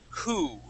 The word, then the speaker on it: who: And now, class, this happens in most cases except for the word who. Okay. This trick will not work with the word who because we pronounce that H. We say who.